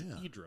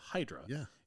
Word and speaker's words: Hydra: And then we're going to visit a tiny little island called Hydra. The Greeks would pronounce Hedra, but we pronounce it Hydra.